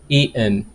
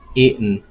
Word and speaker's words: eaten: but that's the pronunciation eaten some people may pronounce eaten but North American accent they say eaten eaten like the T is mute eaten e hmm eaten